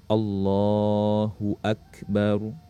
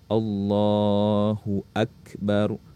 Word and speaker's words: Allahu Akbar: Takbiratul Ihram itu bacaannya Allahu Akbar Ya coba Allahu akbar Hu Akbar ya saat mengucapkan Takbiratul Ihram bnya jangan dipanjangkan jangan Allahu Akbar Ya itu ya jadi ingat Allahu Akbar Ya nanti teman-teman bisa